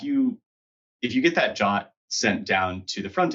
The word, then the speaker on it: JWT: lot of people who like still call it jwt but i'm just monosyllabic so that's what i'm doing with tomato tomato tomato waste so yeah yeah um but yeah if you if you get that jot sent down to the front end like it's